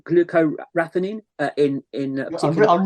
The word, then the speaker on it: glucoraphanin: us what it is and what it does glucoraphanin okay what okay what is it and what